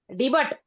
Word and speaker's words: debut: Debut. No. What's the spelling? Debut. Debut. Debut. Debut. Debut. No. Is debut. T is silent.